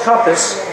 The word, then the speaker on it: Kumpas: Now I want to introduce Mr. Charles Kumpas, pronounced like a compass.